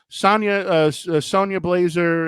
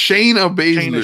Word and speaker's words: Shayna Baszler: So it was Sonya Blazer and Sonya Blazer. What the Sonya? freak? I fucking know how to pronounce Shayna Baszler.